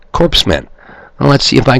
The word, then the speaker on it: corpsmen: It sounds like you'd spell it C-O-R-E-M-A-N. But I found out that Barack Hussein Obama, another one of the wizards the public selected for president, says actually it's corpsmen.